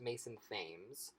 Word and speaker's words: Mason Thames: And with him in particular, his name I believe is pronounced Mason Thames, although it would be funny if his name was Mason Thames, because Mason tames a dragon.